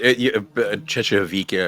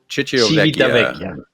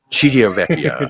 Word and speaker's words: Civitavecchia: You started Cecchevica, or however you say it, is essentially. I know you say it, make me look more stupid. But how do you say it? Civitavecchia. Civitavecchia.